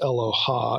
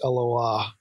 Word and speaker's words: Eloah: to the the Hebrew word Aloha it's not pronounced Aloha its Aloha that is used for God at times in